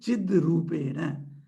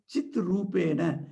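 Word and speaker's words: चिद्रूपेण: That's why it becomes Chid Rupena. So while pronunciation, we should not say Chit Rupena.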